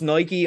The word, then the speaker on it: Nike: It's pronounced Nike. I'm pronouncing it wrong, but I pronounce it Nike.